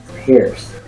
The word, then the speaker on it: Peirce: logic of charles sanders pearce is spelled p-e-i-r-c-e pairs you can learn a